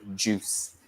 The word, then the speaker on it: juice: got Jew and also pay attention to the pronunciation there we don't really say the I write juice so juice coffee and